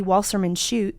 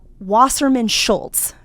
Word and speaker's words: Wasserman Schultz: says that um Debbie Wasserman shoe Debbie who I can't ever say her name. It's uh Wasserman Schultz.